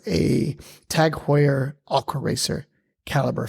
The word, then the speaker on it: Calibre: And I didn't realize that it was actually Caliber. And it was British.